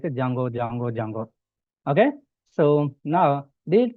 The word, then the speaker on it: Django: So for example pip install juno jungo here d is a silent letter that's why we are calling like a jungo. Okay, if you are calling like a Django also no problem.